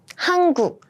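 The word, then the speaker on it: 한국: plida and next we have huk huk H hanguk so it's the name of South Korea South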